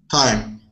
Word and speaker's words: thyme: that is an herb how can i read this time time just like the what time is it yes okay excellent yeah